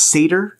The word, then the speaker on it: seder: have to have this thing called is it pronounced seder yes and during this there's this whole thing